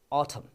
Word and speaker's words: autumn: This is pronounced as autumn. Autumn. Very good. The bold letter N is silent over there.